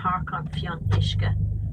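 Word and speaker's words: Páirc an Fhionnuisce: here now the name of the park is parking fee on mishka that prompted that's your property but when are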